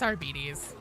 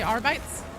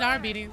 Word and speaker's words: Arbites: It's our bees. I looked up a thing. I don't like it. I would rather say arbites, but that is incorrect. And it is indeed Arby's mass of rage.